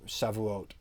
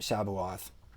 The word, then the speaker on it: Shavuot: refer to the festival it's the festival of shavuot not shabuath um now this is